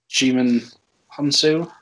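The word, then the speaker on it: Djimon Hounsou: And, then you've got, I'm going to pronounce his name right, is it Juman Hansu?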